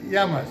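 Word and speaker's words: Γειά μας: How do you say cheers? Or? Yes. Yamas. Yamas.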